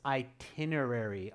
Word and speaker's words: itinerary: So students, it's itinerary, itinerary. Watch the pronunciation on that one, okay?